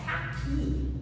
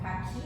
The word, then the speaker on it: caqui: Então, por que, por exemplo, a palavra caqui, vamos fazer aqui uma observação. Caqui, a sílaba tônica de caqui é qui.